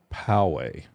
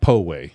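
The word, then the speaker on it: Poway: How do you pronounce that? You were my former residence in Powe. Powe, not not Powway.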